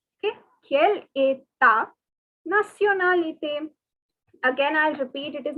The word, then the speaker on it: nationalité: Okay, the word nationality is pronounced as nationalité. See, the spelling is almost the same, only the differences of the Y and E. But the pronunciation is very different. It is nationalité.